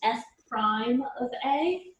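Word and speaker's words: f′(a): apostrophe in there and that's pronounced f prime of a this is just notation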